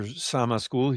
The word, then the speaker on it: Azkul: Azkul. He is president of the American Alliance for a Democratic Syria. Did I pronounce that correctly?